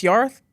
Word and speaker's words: Yorwarth: Why is a Welsh name any different? Yeah. So I've been really tough on, no, it's Yorwarth. I don't care that it looks like Yorwarth, it's Yorwarth.